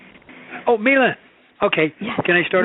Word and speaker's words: Millen: You pronounce my name as Millen. Oh, Millen.